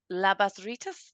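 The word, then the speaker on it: labas rytas: good morning everybody uh labas Rus I hope I have that right um that is um what I've been told is the way to pronounce it if I have it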